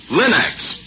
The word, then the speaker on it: Linex: Remember to ask for them by name, Linex. It's spelled L-I-N-X. Linex.